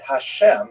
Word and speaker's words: Hashem: And the word Hashem of course is pronounced with the letter H.